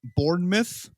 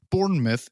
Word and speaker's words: Bournemouth: uh boscom beach in bournemouth is a mouth or myth i think i'm gonna say myth right cause like dartmouth but it's spelled mouth i think okay bournemouth england was temporarily closed